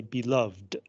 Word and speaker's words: beloved: a as a person the person I love is my beloved you would say Ed but if you use it as an adjective to describe something or someone you would say beloved right uh and then